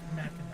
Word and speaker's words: Mackinac: I was telling you, I was just like saying it how it's spelled. Okay. But it's pronounced Mackinac.